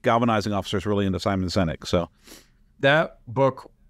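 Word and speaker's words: Simon Sinek: it's over on my my bookshelf over there Simon synic I hope I'm pronouncing his name correctly yeah and yes you are he's a I know my chief galvanizing officer is really into Simon senic so that book Not only was it a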